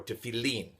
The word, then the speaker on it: tefillin: Baruch atah Adonai Eloheinu melech haolam asher kiddeshanu b'mitzvotav v'tzivanu al mitzvat tefillin, or tefillin, proper Hebrew pronunciation.